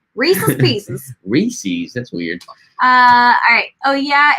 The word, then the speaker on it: Reese's: you so much for saying it correctly as Reese's as belonging to Reese not as some weirdo says it Reese yeah I don't know who says Reese's I don't say Reese Reese's for sure Reese's Pieces Reese's that's